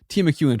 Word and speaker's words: Timucuan: hmm It's Timu You don't have to spell it. Cuan, Timucuan tribe.